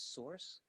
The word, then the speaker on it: src: Notice it says source, that's how this is pronounced, SRC is source, equals, and in between the quotes, it first says, go to my images folder.